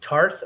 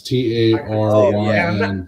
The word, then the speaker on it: Taryn: Is it Tarth or Tareth Terrell? Terrell? Taryn Terrell. Is Okay, is it Y? Yeah, it's T A R Y N Taryn Terrell.